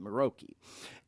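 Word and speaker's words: Muroki: And I know Dean's going to put some stuff up in a minute here, but it's spelled M-U-R-O-K-I, Maroki.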